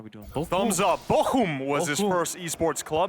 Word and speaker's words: Bochum: First, and he actually taught me how to pronounce it right. It's Bochum. I think I'm saying that right. There's Germans laughing right now in the crowd. Yeah, in the chat, guys, in the chat. All right, Bochum.